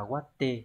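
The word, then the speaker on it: 割って: Đây là chữ cát, chữ này sẽ đọc là waru, vậy thì thể t sẽ là watte.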